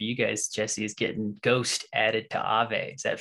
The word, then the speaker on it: GHST: so now ghost token ghst we call it ghost but for those listening it's it's spelled ghst token um it's a very